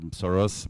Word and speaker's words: Soros: This is Mr. Soros, or Soros in international pronunciation, from New York, and how he used his figure.